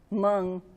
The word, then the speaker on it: Hmong: Yeah, there was a quilt, and it came from, and I can't really pronounce it, but you're supposed to wrinkle your nose first, Hmong flower quilt, or a pandau.